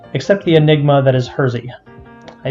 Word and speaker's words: Hersey: the enigma that is Hersey. I say enigma because for... Criticism. Hershey. It's pronounced really weirdly, but that is the way it's pronounced on the train.